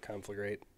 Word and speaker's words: Conflagrate: It looks like, which that is how you say it, by the way. Yeah. Conflagrate. People don't realize that.